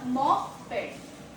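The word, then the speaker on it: moped: powered and मोटराइज़्ड बसाइकिल is known as अ मॉप पेड example she wrote her मॉपड to school she wrote her मॉपड to school sorry pronunciation two इज़ मॉप मॉप इट कैन बी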